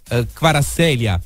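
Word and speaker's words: Kvaratskhelia: dato la notizia di vara sedia questa è la pronuncia poi montano che è esperto in georgiano mi dirà se la pronuncia esatta che para seria dovrebbe essere comunque la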